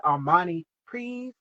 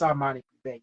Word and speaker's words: Armani Privé: You don't pronounce it that way. Because I was pronouncing it Armani Privé. It's Armani Privé. She said, no, darling. It's Armani Privé. You pronounce it like that.